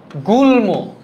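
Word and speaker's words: গুল্ম: না সরল তাই না গুলম এইখানে দেখেন গুল ম এখানে ম ফলার উচ্চারণ বৈশিষ্ট্য বজায় রয়েছে ম ফলার উচ্চারণ বৈশিষ্ট্য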